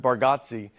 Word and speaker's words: Bargatze: I think you say our last name correct with Bargotsi and I think we say it wrong as a family.